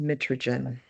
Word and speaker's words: mitragynine: The scientific name is pronounced mitragynine.